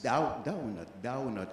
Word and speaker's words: donut: And she told us Caribbean people make their O too round. Oh. She gave us what you call a donut commercial to read. And when I pronounced the word donut, she said, it's donut. You have to put yes, you have to put a little A in the O and make the letter sound like ow, ow.